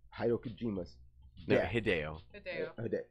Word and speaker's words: Hideo Kojima: Hideo Kojima. That is the correct pronunciation.